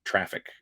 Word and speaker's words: Traefik: And what it does is it grabs the the TLS client certificate that's forwarded in from Traffic. TRAEFIK is how that's spelled.